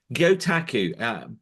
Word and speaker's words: Gyotaku: Gyotaku, before I launched this video, I was just rehearsing with you how to pronounce that, and I think I did get it right first You time.